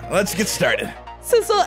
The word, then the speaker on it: Sissel: it's different right sisle did you realize that sisle rhymes with missile we're like the dynamic